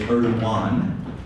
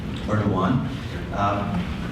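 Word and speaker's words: Erdoğan: Now, I will clarify, his name looks in English like it's spelled Erdogan with a G. I've been told that it's Erdogan. You don't really say the G the way we would here in the United States, so I'll try my best to pronounce it properly.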